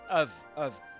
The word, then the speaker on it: have: Usually this have is not have, not pronounced as have, but of.